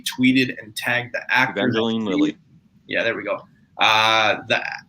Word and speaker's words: Evangeline Lilly: I'm just going to say Eva Lilly, tweeted and tagged the actor. Evangeline Lilly.